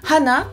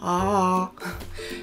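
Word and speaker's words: 歯: Ensuite, en une seule syllabe, une dent. Ha, la dent. Ha. Donc là, attention, ne dites pas ah.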